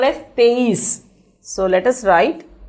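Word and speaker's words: तेईस: 23 is called as teis. So let us write T-E-I-S.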